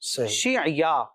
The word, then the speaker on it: شعیا: دو تلفظ نظر آئے۔ ایک تلفظ تو یہ ہے کہ یا شین کے نیچے زیر ہے اور آئین پر جزم ہے اور یا کے اوپر پھر زبر ہے، شیعیا علیہ السلام۔ اور بعض کتابوں میں